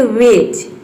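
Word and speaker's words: wedge: आया है तो इसमें डी जो है वह साइलेंट है, जज। उसी तरह से यहाँ पे देखिए वेज, budget, fridge, नॉलेज, bridge, इन सभी में क्या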